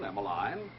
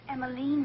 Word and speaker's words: Emilene: be wandering out alone emiline it's emilene Mr Kleiner well now